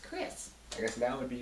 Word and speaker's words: Crisse: And of course, some people see it and they say, "Oh, you're Crissy." And I said, "No, it's just pronounced Crisse."